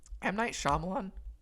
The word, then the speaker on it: M. Night Shyamalan: I understand I'm gonna I'm gonna just say it right for the record M Night Shyamalan good director here's the